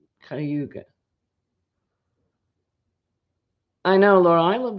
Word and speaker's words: Cuyahoga: It's spelled Cuyahoga, but I think it's pronounced Cayuga.